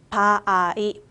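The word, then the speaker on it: 場合: 일본의 경우 바아이, 니혼노 바아이라고 읽어주시면 되거든요.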